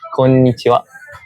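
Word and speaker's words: こんにちは: The formal correct pronunciation is konnichiwa.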